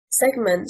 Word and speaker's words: segment: Segment, stressing on the first syllable, means portion and is a noun.